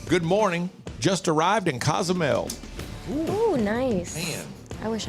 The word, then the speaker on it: Cozumel: And you should be pronouncing it Cozumel, Alexis, Cozumel. because you're Hispanic. Don't be telling me how. That's the way. Tell her, Rob. You should know better. It's Cozumel.